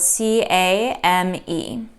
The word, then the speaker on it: came: our word is pronounced the reason you don't say the e is called a silent e for a reason because it's silent we don't say anything